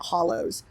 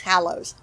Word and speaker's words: Hallows: I keep pronouncing it Hollows because I'm not paying attention. It's Hallows, a little self-paced hunt around the village with a spooky theme.